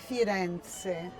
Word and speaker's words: Firenze: Firenze. Firenze.